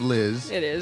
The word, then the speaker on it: Llxzz: So, you spell your name LL X, but it it is pronounced Liz.